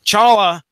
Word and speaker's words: T'Challa: T'Challa, which is how I'm going to pronounce it tonight, by the way, T silent. T'Challa battles the Klan.